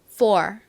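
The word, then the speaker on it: four: 4 이렇게 발음이 됩니다 한국식으로는 포 요렇게 보통 표기를 하죠 하지만 실제 미국식 발음은 따라해 보세요 4 4 좋습니다 이렇게 발음이 됩니다 유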